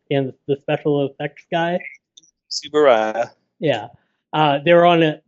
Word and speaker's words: Tsuburaya: Tsuburaya.